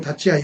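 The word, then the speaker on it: 立ち合い: 발음은 다찌아이 이렇게 하고요.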